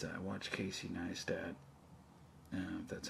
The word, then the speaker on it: Casey Neistat: this video this one video it's uh watch casey neistat and that's how you say his name and